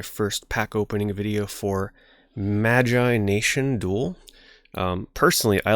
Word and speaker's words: Magi Nation: sound of it but I will call it magination because that is how most people call it this is a dead